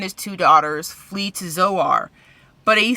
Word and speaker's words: Zoar: make it to the mountains he asks that pronounced Zoar to be spared and so they agree they